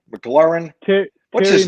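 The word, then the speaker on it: McLaurin: from a foreign country uh how do you pronounce mclaughlin mclaren okay what's his name maclaurin every time i look at a box score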